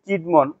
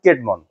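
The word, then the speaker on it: Cædmon: কবিতা আচ্ছা প্রথমে আমরা এখানে বাংলা ইয়াটা লিখছি কিডমন কিন্তু সঠিক উচ্চারণটা হবে ক্যাডমন বা ক্যাডমন ক্যাডমন ক্যাডমন কে আর্লিয়েস্ট ইংলিশ পোয়েট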